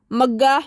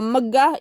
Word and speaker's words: megah: So megah is pronounced megah, right? But when I was a kid, I heard it megah, and my mom would like correct me, Nev, it megah, not mega.